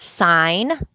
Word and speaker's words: sign: between these two words let's look at the word sign well we might think why in the world is there there that silent g in the middle of this word why is that silent what about the word